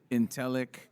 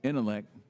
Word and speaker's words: ENTELEC: Because, I came and first I was mispronouncing it. So, I would say Intelec, and then I was corrected. No, it's intellect. Some people throw the T on the end, but give us that